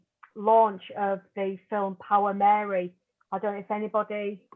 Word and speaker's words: Meri: It's Power Mary, but it's spelled MERI, and it's an amazing